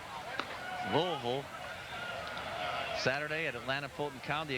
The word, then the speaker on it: Louisville: friday night in louisville that is the correct pronunciation louisville saturday at atlanta fulton county against the bravos